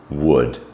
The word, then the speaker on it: would: cold fold hold uh but beware if we get o u l d um it makes a different sound there's only a few words so some examples are could should would so the um the L becomes silent um on those words